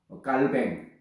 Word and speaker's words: 칼빈: 마틴 루터나 또는 존 칼빈, 뭐 요즘은 그 불란서 발음을 해서 깔뱅 이렇게도 부릅니다만, 어쨌든 이 존 칼빈이나 이 사람의 영향은 정말 컸다, 이렇게 말할 수 있습니다.